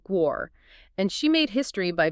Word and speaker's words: Guo: And it's pronounced Guo.